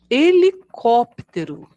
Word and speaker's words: helicóptero: som da vogal um helicóptero começa com H mas vemos no início som da vogal e helicóptero é um meio